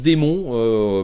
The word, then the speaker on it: daemon: littérature assez communément, mais le démon, qu'on prononce démon, le daemon, démon en anglais, c'est le terme officiel.